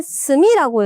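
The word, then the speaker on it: 隅: 자, B번이 한자는 스미라고 읽어요.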